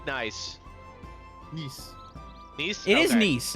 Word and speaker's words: Nice: Yeah, actually, how do you pronounce the name of the city? It looks like Nice. Nice.